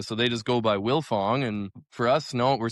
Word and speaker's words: Wildfong: And uh so they just go by Willilfong. And for us, no, we're stubborn. We kept the D. You don't say the D. You don't pronounce the D, but it's there.